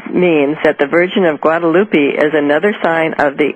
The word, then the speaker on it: Guadalupe: How do you pronounce that? Guadalupe? Yeah, Guadalupe.